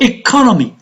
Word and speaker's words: economy: So economy, where is the stress? On the second syllable.